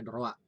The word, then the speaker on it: droit: Nah, kalau di Prancis, hukum tata negara itu dikenal dengan istilah droit constitutionnel. Tulisannya droit, tapi kita membacanya droit. Ya. Nah, jangan Prancis itu OI dibaca OA.